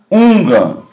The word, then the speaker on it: hungan: não é Sacerdote também a pronúncia de hungan é hungan isso é um sacerdote